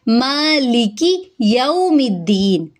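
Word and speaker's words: مَالِكِ يَوْمِ الدِّينِ: जबकि इसकी गलती क्या है, इसको मा लेके नहीं पढ़ेंगे, ले और के वो है वो गलत हो जाएगा। ली की काफ की हरकत लंबी नहीं होगी, मालिकी मीम के ऊपर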